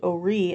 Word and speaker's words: Horry: Now, what I found by reading several web pages, it's actually spelled Horry, but it's pronounced Horry, as we've been pronouncing it, and was the name of Peter Horry, a Revolutionary War hero